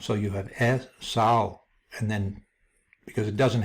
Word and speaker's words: Esau: And here we have the Hebrew spelling of Esau or Esau, or can also be pronounced Esav, because the last letter, the Vav here, has a V sound too.